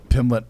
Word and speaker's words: Pimblett: Or Pimbleton. Pimblett. So here, why are you pronouncing it wrong?